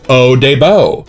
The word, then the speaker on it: Eau de Beau: to Eau de Beau by L'Octane and Provence, pronounced Eau de Beau.